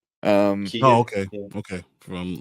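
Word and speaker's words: Keoghan: Then we got Ringo is gonna be Barry Keegan, however you pronounce his name. Keegan.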